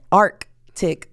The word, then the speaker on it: Arctic: this Arctic weather or you know what Arctic weather it's with the c yeah it's like the